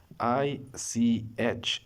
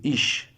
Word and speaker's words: ich: Some people pronounce this word, especially in India, like ish. It is not ish. Be careful with this word. It is ich. Ich. You have to press your tongue to your lower teeth like this.